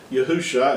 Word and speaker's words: Yahusha: His name is really what was pronounced Yahusha, and that's the way that the Hebrew, that his name would have been pronounced in that day, and should be pronounced today.